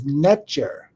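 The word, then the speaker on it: nṯr: And it's the pronunciation is Netjer, Netjer, Netjer.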